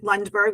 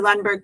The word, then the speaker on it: Lundberg: They can follow me anywhere, Lundberg, which is spelled L U N DB RG. I'm Lunberg Coach on Tik Tok.